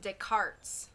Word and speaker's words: Descartes: think we're done here it's funny because it's pronounced descartes oh you want to get um put your